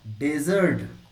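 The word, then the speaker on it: desert: लेकिन इसको बोलते हैं डेजर्ट।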